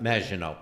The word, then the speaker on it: Maginot: Did I pronounce it? Maginot.